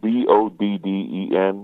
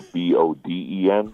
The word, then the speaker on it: Bodden: Yeah, it's spelled Bodden. Right. And I know the correct English phonetic spelling would be Boden, right, or pronounce it Bodden.